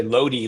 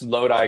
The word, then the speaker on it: Lodi: Most people say Lodi like it rhymes with Jody, but you actually pronounced Lodi correctly.